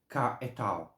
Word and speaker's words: Cahetel: Um, okay, so this angel's name, you have a few ways to pronounce. The way I pronounce it is Cahetel.